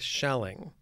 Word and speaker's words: Schelling: is a German pronunciation I hope I'm saying it correctly but with shelling is that how you say it that's how you say it exactly okay friedi shelling as